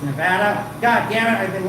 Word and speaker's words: Nevada: Instead of Nevada, it's Nevada.